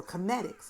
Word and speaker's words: Kemetics: might be Earth semitics or cometics is how it's supposed to be pronounced like as in chemist okay if you look